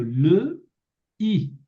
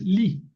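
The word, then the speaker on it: לי: No es le i o le y es li.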